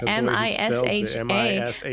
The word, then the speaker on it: Misha: A lot of people think he's Russian because he spells it M-I-S-H-A.